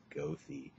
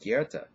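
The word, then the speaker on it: Goethe: say oh that's spelled gothi no it's not gothi it's pronounced Kera thank you um and his novels one of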